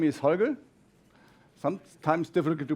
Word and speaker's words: Holger: at the gab universe so my name is hogga sometimes difficult to pronounce hogga uh and at me SP I'm a senior